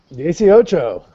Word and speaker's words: dieciocho: How do we pronounce 18? Dieciocho.